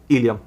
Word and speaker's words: ilium: अब यहाँ पे दो वर्ड हैं जिनको हम प्रोनाउंस तो इलियम ही करेंगे, है ना, मगर एक में स्पेलिंग है ILEUM एंड एक में स्पेलिंग है ILIUM।